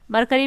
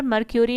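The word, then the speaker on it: Mercury: मरकरी भी कोई बोलते हैं पर मर्क्यूरी ही इसका सही प्रोनाउंसिएशन है।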